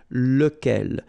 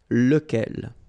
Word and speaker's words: lequel: So remember, you've got to pronounce it lequel. Even if you've got this QU, okay? Remember that this U phonetically doesn't exist, so lequel.